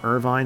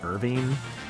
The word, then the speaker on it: Irvine: Which also apparently it actually is pronounced Irvine, not Irving because of uh was it Irvine, California, I believe.